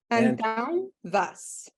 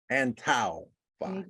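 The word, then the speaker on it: Antão Vaz: Antanvas. Antau Vas. Antanvas. Think of the words up and down. So the latter end of the down, if you put ant in front of it, Antanvas, that's how you pronounce it.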